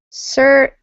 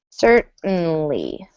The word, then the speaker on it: certainly: Certainly we do not pronounce tane. Instead we just make an n sound. Certly. Certainly. So it's kind of a muted t or a disappearing t.